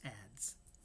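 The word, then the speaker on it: adz: Um, and apparently it's some sort of ancient woodworking tool and it's pronounced ads.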